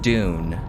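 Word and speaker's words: DVNE: i'm wearing is the the band is called dune but it's spelled dvn e um and it's just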